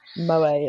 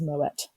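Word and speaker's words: Moët: It's not pronounced Moe. It's pronounced Moet.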